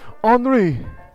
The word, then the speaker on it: Henri: Please, Henri. He Hi, I'm. That's his name, is Henri, which is spelled kind of like Henry.